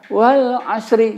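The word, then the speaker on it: والعصر: Nah, jadi kita nggak boleh bacanya wal asri, nggak boleh. Kita baca setengah. Kalau kita sering mendengar orang baca, jadi bacanya begini, wal asr. Nah, ada ujungnya tipis saja, wal asr.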